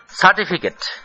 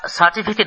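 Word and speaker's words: certificate: থৌ থৌ poster poster সার্টিফিকেট সার্টিফিকেট আমরা সার্টিফিকেট বলি একেবারে সোজা উচ্চারণ কোথাও উঁচু কোথাও নিচু নেই কিন্তু ইংরেজিতে চা বা টি এর ওপর একসেন্ট পড়ে সার্টিফিকেট সার্টিফিকেট সার্টিফিকেট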